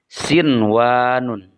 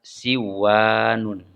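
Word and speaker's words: صِنْوَانٌ: Contoh lain, sinwanun. Ada nun sukun bertemu dengan waw dalam 1 kata, sehingga dibacanya harus izhar atau jelas. Sinwanun. Tidak dibaca siwanun.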